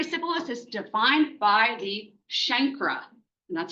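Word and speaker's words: chancre: um so primary syphilis is defined by the shankra and that's how you pronounce this. It's not a it's not what do people call it? C canker.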